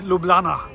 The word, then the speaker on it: Ljubljana: at the capital city called uh lublana or as the locals say lublana now I have chosen